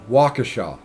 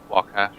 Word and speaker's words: Waukesha: That it is pronounced Waukesha. Waukesha.